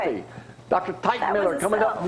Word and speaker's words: Teichmiller: Typewriter, popsicle, Teichmiller.